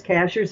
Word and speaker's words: Cashiers: Cashers is spelled like a cashier at the at the grocery store.